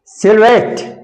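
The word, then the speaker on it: silhouette: और example next है सिल्वेट एस आई एल एच ओ यू ई टी टी ई सिल्वेट इसका इसका उच्चारण है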